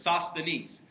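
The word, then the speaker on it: Sosthenes: pronounce that name is as if somebody's pouring some barbecue sauce on their knees that's just a silly way to remember it but it's sauce the knees is how you pronounce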